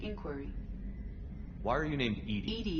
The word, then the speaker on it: EDI: why are you named ed is the phonetic pronunciation of edi that is an acronym